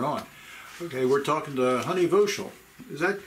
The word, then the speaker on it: Honey Voshell: Okay, we're talking to Honey Voshell. Is that pronunciation right?